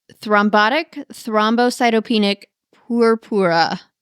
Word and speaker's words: purpura: you might have to help me with this pronunciation thrombotic thrombos cytop pic purpura purpura purpura nice you did pretty good thrombotic thrombocytopenic